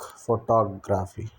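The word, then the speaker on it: photography: The stress fails on the second syllable टॉग, टॉग, फोटोग्राफी। Compare फोटोग्राफ, first stress on first, same word different stress.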